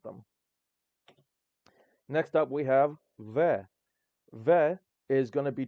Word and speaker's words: В: it does look like it looks a lot like a B I mean this this looks like a b but it's pronounced ve but I will say